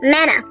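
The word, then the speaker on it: manna: What do you call this? Mana. Indeed, it rightly rhymes with Hannah because Hannah was given mana eventually.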